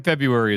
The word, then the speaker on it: February: That R in February is fucked up because if you try to pronounce it, you sound insane.